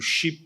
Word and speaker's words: SHIP: And I've been told to be careful with how I pronounce that SHIP, because with my accent, my P sometimes sounds like a T, so it is a P there.